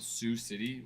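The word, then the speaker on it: Sioux City: Sue City. Is that how it's pronounced? Sue. They pronounce that Sue City.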